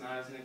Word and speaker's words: Niznik: Pronounced Niznik graphic design.